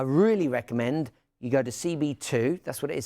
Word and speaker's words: CBII: And then I really recommend you go to CB2, that's what it is, CBII, can you see that there? CBII, that's CB2 is the right way to say it.